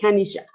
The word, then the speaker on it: Kanisha: And it's spelled, well, you can pronounce it Kanisha because it's Japanese.